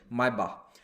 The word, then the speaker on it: Maybach: तो हम दुनिया के जो अंग्रेजी बोलने वाले लोग हैं वो मेबैक ही बोलते हैं, बट एक्चुअल प्रोनाउंसिएशन इज मायबाख।